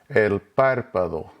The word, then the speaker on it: el párpado: Notice the written accent over the first A. That puts the emphasis on that syllable. So it's not el párpado, it's not el párpado. The accent is over that first A. So that's where you put your emphasis.